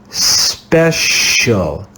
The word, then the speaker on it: special: words that we memorize this is the soft ecclesiastical sound sh let's read this word together special special special you can hear the soft sound sh special this is the